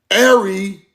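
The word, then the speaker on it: Éire: Erie. Pronounce Ary the name for Ireland in the Irish language.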